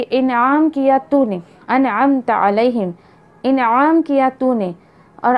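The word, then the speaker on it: أَنْعَمْتَ: हम पढ़ते हैं अनअमता, आप नाउज़ बिल्लाह वहाँ पढ़ दीजिए कि अनअमतु। एक तो आपने आइन प्रोनाउंस नहीं किया, दूसरा अनअमतु, अनअमतु, और ता के ऊपर वहाँ पे हरकत किसकी, ज़बर किए, और आप जो है वो पेश की हरकत पढ़ रही हैं।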